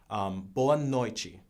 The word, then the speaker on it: boa noite: And the way you say goodnight would be boa noite, which is kind of like buenas noches.